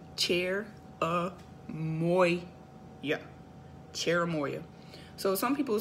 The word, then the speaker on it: cherimoya: cherimoya CH ER I am Oh y8 it's pronounced chair uh boy yep cherimoya so some people say CH ER I blah